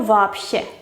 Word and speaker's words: вообще: Pues la sh es sorda y entonces la B anterior se tiene que pronunciar sorda también y su pareja es la P. Por eso вообще, вообще.